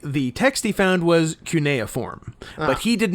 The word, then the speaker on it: cuneiform: I I don't know if you said cuneiform or carry coniform oh yeah it's cuneiform uh so yeah well they're